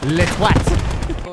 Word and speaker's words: toit: Wait, apparently the roof in French is pronounced more like twat. So we're on Le Toit.